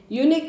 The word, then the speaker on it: unique: There is a unique opportunity for you to see the army camp. Unique, U is a vowel, but their sound is a consonant sound, YU.